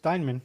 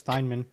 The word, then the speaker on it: Thiemann: how it's pronounced, but Yeah, it is. Thiemann, yeah. Oh, is it Thiemann? Yeah, Thiemann. That's how it's pronounced. It's It's how it looks. Thiemann.